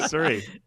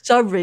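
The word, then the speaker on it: Surrey: Your pronunciation of sorry is uh just gave so much joy. Sorry. Siri. Nope. Sorry. Sorry. Sorry. Sorry. Yeah, that's it.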